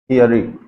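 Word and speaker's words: theory: तो इसका सटीक प्रोनाउंसिएशन है वो क्या है? थियरी।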